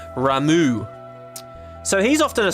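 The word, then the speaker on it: Ramuh: okay Tara Tara and Rama says she's frightened oh sorry we're supposed to pronounce that differently aren't we ramu so he's off to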